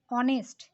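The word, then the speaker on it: honest: देखो हम लोग इसको उच्चारण करेंगे ऑनेस्ट, यहाँ पे एच का उच्चारण नहीं हो रहा है, ऑनेस्ट हो रहा है।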